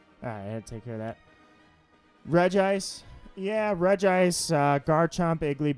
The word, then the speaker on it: Regice: an awful shiny Regice sounds like royalty I pronounce it Regice none of this Regice garbage Reggie ice I used to call it Reggie ice and